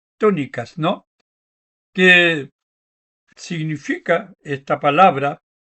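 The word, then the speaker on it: ctónicas: Eh, Son las llamadas diosas tónicas con una C adelante. Sería citónicas, pero se pronuncia tónicas, ¿no?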